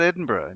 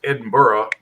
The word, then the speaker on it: Edinburgh: opposed to Birmingham yeah so what what about Edinburgh did you just say Edinburgh or is it